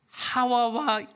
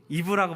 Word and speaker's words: 하와: 하와 하와. 우리는 하와라고 부르잖아요. 세상은 뭐라고 불러요? 이브라고 불러요. 혹시이 차이 아세요? 성경에 히브리어는 하와 하와라는 발음이 훨씬 더 맞아요.